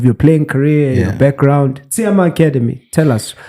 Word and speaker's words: Tshiama: Tshiama, that's how you pronounce it.